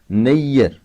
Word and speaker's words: نیر: تلفظ صحیح نہ ہوگا۔ مثلا نیر، اگر معمولی طور سے اس کے ہجے کیے جائیں گے تو یہ ہوں گے نے یہ رے، مگر یہ صحیح نہ ہوگا، اس لیے یہ کے زبر کو گھما کر پڑھنا ہوگا۔ اس طرح نواب، معمولی